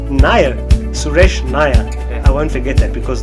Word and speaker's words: Nair: if his name is Suresh how do you pronounce it nyah nyah suresh nyah I won't forget that because the word nyah